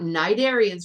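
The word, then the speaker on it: cnidarians: going to be learning about night arens remember that the sea is silent and you're going to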